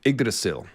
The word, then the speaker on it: Yggdrasil: The weirwood stigmata, George grew up Catholic, Yggdrasil.